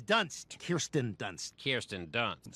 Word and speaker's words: Kirsten: He was in Spider-Man with Kristen Dunst. It's not Dunst, it's Dunst. Kirsten Dunst. Kirsten Dunst. Spell it, Joe.